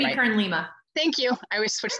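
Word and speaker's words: Jamie Kern Lima: Jamie Kern-Lima.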